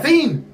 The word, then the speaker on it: Seine: You look at your river, your beautiful scene that you yell at people to pronounce it right. All right, the Seine River. It's the Seine!